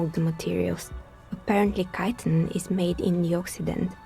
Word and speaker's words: chitin: what materials apparently chitin is made in the occident where it's extracted from bitter wings you know I'm sure that other people people have told me repeatedly that it is pronounced chitin but I refuse to